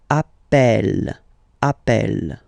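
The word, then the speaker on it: appelle: the pronunciation of uh you tend to pronounce it like e e really open that's the reason why you pronounce it Appel Appel okay Appel Appel Appel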